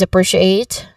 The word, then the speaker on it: appreciate: First is appreciate. Now, the stress here is on the second syllable, so appreciate.